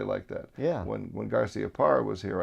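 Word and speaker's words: Garciaparra: garcia parr was here i asked him if it was garcia par or garcia pera yeah and he because i'd heard both in a way sure and he said no it's garcia par and things yeah exactly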